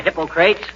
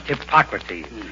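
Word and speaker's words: Hippocrates: McGee hello McGee hi hypocrates if you are referring to the father of medicine McGee it's pronounced hipocrates and if I wasn't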